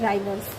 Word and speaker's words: Rivers: मैं आपको दिख रहा होगा, स्पेलिंग में बता देती हूँ, RIVERS, राइवर्स।